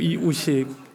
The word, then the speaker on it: 이우식: 왜 속이 상하는가 하면 오늘 말씀 전해주실 이유식 목사님 이렇게 얘기를 해요. 이유식은 배지밀이고 세레락이지 저는 이유식이 아니고요. 이우식이에요. 이우식.